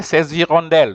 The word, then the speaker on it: hirondelles: And then also hirondelle is the H is considered silent, so you join, you say ces hirondelles.